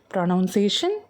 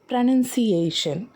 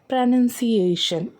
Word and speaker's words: pronunciation: things first இந்த வேர்டை நீங்க எப்படி ப்ரொனௌன்ஸ் பண்ணுவீங்க ப்ரொனௌன்சியேஷன் அப்படி சொல்லிட்டு இருந்தீங்கன்னா இனிமே அதை மாத்திக்கோங்க இந்த வேர்டோட சரியான உச்சரிப்பு என்னன்னா ப்ரொனௌன்சியேஷன் ப்ரொனௌன்சியேஷன் இதோட மீனிங் உச்சரிப்புதான் அப்புறம் நிறைய பேரு இதுல ஒரு